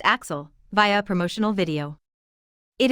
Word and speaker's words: AXL: At the start of the movie, we are introduced to AXL, pronounced Axel, via a promotional video.